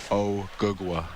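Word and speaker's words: Ogugua: O gagwa.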